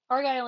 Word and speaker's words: Argyle: on whether or not Commenty could pull off Argyle. No. No. If I You said if I Argyle? included Argyle is how you say that, yeah.